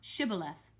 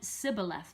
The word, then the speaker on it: Shibboleth: If he said no, then they would say to him, Say now, Shibboleth. But he said Sibboleth, for he could not pronounce it correctly.